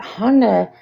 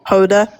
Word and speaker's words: Hoda: more real than Honda's because I've noticed that Honda she was really um smiling through the whole thing. I just don't think Hoda.